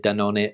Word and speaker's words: Dannon: pronounced that company yesterday i used the spanish pronunciation da none and i think i also said da none earlier in the video